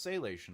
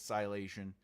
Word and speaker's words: Silation: book called Silation, and everyone says, no, it looks like it's pronounced Salation. I go, then it's Salation. But to me, when I'm writing it and I'm working it, it's Silation.